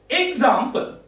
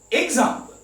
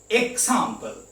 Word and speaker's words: example: Example. Example. G sound. Some people say example. K sound is wrong.